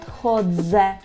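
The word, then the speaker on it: chodzę: так довідзеня або наприклад ходзе Так я ходжу ходзе ходзе чітко гарно вимовляємо звук ДЗ або наприклад слово дзвоніть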